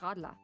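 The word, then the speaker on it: Radler: Uh I think you know the the German pronouncing is radla.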